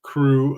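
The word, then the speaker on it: krewe: so I think it's despite the fact that it's spelled k r we it's it's probably a lot like we recognize crew is cew so it'd be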